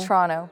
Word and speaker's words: Toronto: but it's like ch. It's Toronto? Toronto, two syllables.